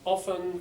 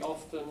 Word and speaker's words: often: it good thank you and often can be often or often you can say it both ways I say it with a silent T often but you can say often I don't think there's